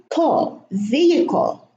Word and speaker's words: vehicle: Vehicle. The H is silent, and we pronounce the I as if there were two I's or a Y and an I.